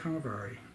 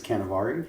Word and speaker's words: Canevari: So let's get into the interview with Canevari of Kokua Bikes USA. We're here with from Hawaii. And, pronounce the name of the company you work with.